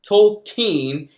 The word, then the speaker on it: Tolkien: an alliance an invincible alliance a fellowship tokine as the movie tells you it's pronounced is a biopic about jr.